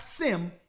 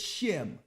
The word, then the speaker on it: Shem: it's a mix it's a mispronunciation a mispronunciation of of the sun shim it's not sim it's shim right so now let's